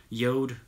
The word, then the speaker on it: Jord: film a video for Yoda watches they st. Jorden him but they're pronounced Yoda and we're gonna we're